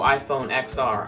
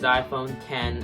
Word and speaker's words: iPhone X: hear people going oh I phone XR iPhone X when the real pronunciation is iPhone 10 or above 10 are